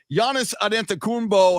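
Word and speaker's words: Giannis Antetokounmpo: or i'm technical obviously they put the emphasis on the second syllable there uh but um you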